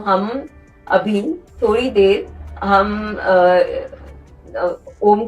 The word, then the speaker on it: ओम: है हम ओम का उच्चारण किया अ उ और म ये तीन है।